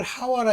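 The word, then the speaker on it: חוה: 그래서 아담은 그 아내를 하와라 이름하였으니 모든 요게 이제 그 헬라말이나 저 헬라어나 히브리 말로는 이게 하와 이렇게 발음하지만 실질적으로 영어로 하면입니다.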